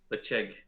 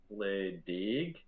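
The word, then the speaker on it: Ledaig: So even though you look at it, you think Ledig. Yeah. If you got to do the correct pronunciation, it'd be Lechig. That's how the locals pronounce it.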